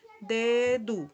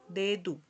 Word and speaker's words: dedo: Aquí tenemos otra vez el mismo ejemplo pasado con el sonido D, dedo, dedo, ¿verdad? Al final, cuando es O, C, en algunos casos se pronuncia como si fuera una U, dedo.